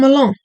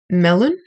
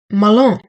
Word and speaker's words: Mâlain: Oh, from Milan. Melon? Milan. Oh, okay. Can you spell it out for me?